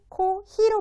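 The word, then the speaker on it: コーヒー: 뜻이 있습니다 커피의 뜻이고요 커피는 코 히로 발음해 주셔야 돼요 해볼까요 자 그래서 코히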